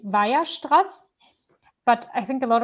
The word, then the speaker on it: Weierstrass: So I'm German, so the German, how you pronounce this is actually Weierstrass. But I think a lot of like English people say something like Weierstrass.